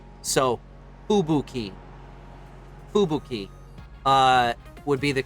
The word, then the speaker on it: Fubuki: but yes japanese names japanese words in general there is no emphasis anywhere within the word so ubuki fubuki uh would be the